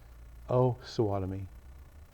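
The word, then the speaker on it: Osawatomie: You want to pronounce it O Swattomy is a correct pronunciation.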